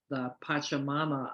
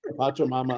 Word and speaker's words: Pachamama: the Hunger Project and go work for the Pachamama Alliance, because she realized saving the jungle would prevent hunger.